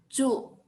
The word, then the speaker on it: 住: Kalau nomor 7, 住. Lidahnya diangkat.